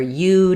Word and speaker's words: you: Sometimes, though, it's unstressed, especially when it's linked. It's not often the most important word, and it may sound a little more like ya with a reduced vowel.